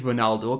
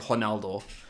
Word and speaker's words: Ronaldo: I do believe it is Ronaldo because it's Spanish language rather than Portuguese. Because I think yeah, they pronounce it Ronaldo. yeah, it's gonna be an R sound.